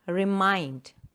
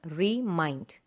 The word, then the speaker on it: remind: For example, remind. So that is a word, remind. Mind, the second syllable is stressed. Two syllables, remind. And mind is stressed.